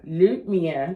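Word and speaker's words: lumière: lumere lumier am I getting it lumier lumier lumier yes okay for us it's loose light loose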